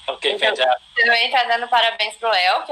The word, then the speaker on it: parabéns: Parabéns.